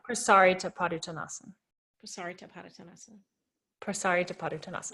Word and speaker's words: Prasarita Padottanasana: So some people say Prasarita. Is that not how you pronounce it? I don't believe so. I haven't seen it written in Sanskrit, but Prasarita Padottanasana is how I was taught.